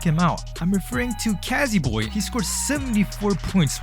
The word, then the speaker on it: Cazzy: 5th place, this person scored 74 points, and his name rhymes with bitch. I'll give you guys a hint. He makes textures and you guys should check him out. I'm referring to Kazzy Boy.